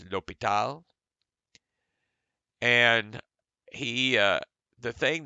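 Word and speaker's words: L'Hôpital: accent over the o the S is silent either way you say it it's lopital and he uh the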